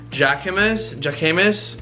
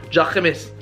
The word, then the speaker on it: Jacquemus: Jacquemus, I don't know how to say it, I don't remember. Jacquemus, I just sounded like I said hummus.